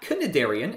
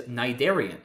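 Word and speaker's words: cnidarian: nidian looks especially bizarre because of this silent c at the beginning of the word which is certainly not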